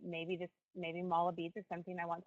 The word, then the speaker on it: mala: I sell, and y'all are going to have to forgive me, I hope I'm pronouncing this correctly, mala beads, M-A-L-A, bracelets and yoga clothing, and mala bead kits.